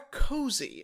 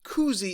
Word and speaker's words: koozie: yeah that is the brand name or a cozy which i've often heard people say i i think koozie is correct in terms of pronunciation but koozie